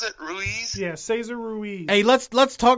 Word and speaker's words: Ruiz: Ruiz, is that how you pronounce it? Ruiz?